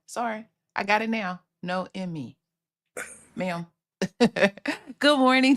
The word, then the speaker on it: Naomi: how you say it I really think so no Emy because no Emy no Emy I like that that's pretty I like that okay my bad sorry I got it now no Emy ma'am good morning T